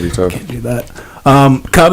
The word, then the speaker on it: K.U.B.: You can find me on Spotify, K.U.B. That's K.U.B. K.U.B. I'm on Instagram at K.U.B_Bucha, like kombucha, but spelled with K.U.B, so K.U.B_BUCHA.